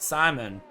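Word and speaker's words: Scymon: and barthas reserves frantic Simon which is spelled s-c-y-m-o-n but we're gonna americanize it and pronounce it Simon it's Intex right matoff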